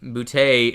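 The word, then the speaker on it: Boutte: Uh, Kahan Bouty is out, and yes, that's how we pronounce his name around here.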